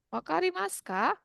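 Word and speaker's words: わかりますか: Wakarimaska. Wakarimaska artinya apa ya? Apakah Apakah mengerti? paham? Hai, betul. Ya, Apakah paham? Apakah paham? Wakarimaska? Walaupun ditulisnya wakarimasuka ya. Wakarimaska desu ne.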